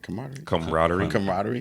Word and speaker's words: camaraderie: And then being like Sir Charles said earlier, being back as a camaraderie again. You know what I'm saying? Did I say it right? Camaraderie.